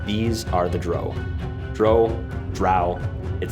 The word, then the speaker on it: drow: are the dro dro drow it says in the beginning of this adventure rhymes with bow or rhymes with bow they're both spelled the same wow so i think